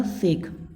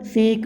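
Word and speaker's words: sake: इसके बाद में भाई नीचे लिखा हुआ है शेक, ये रहा शेक। ए पॉपुलर जापानीज ड्रिंक सा इज प्रोनाउंस्ड लाइक फा इन फादर लाइक के, तो शेक ऐसा कुछ इसका मीनिंग भी होगा।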